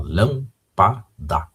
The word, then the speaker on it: lâmpada: Já está silabada a palavra aí, ó, lâmpada, ok? Então, a sílaba destacada aí na antepenúltima sílaba, ok? Por isso que é uma proparoxítona e entra nesta regra de acentuação aí, ok?